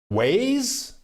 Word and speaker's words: Wise: that wise works great wise is the bomb gigi on the go they pronounce it ways oh okay ways okay ways like waze thank you gigi trace